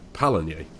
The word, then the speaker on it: Pallegney: But yeah, according to Google it's Pallegney.